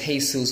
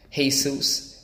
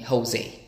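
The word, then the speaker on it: Jesús: time pronouncing my name my name is hey Suz hey soos and and people always called me Jose so it's like oh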